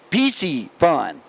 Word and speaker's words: Piscifun: Like Reese's, Piscifun. It's easy. It's easy to say it right. But, that's my word association for people who are struggling. Reese's Pieces.